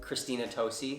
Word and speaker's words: Christina Tosi: they did an entire special about the chef, Christina Tosi, that's how you say her name, who is